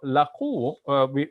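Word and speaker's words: لقوا: So laqu, because it has the bar over the U, we want to make that a long U sound, laqu.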